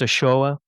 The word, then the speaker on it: Ochoa: He actually pronounced Ochoa.